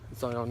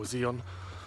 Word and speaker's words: Zion: and now we're in Zion National Park or Zeon however you want to pronounce it we've got about half-past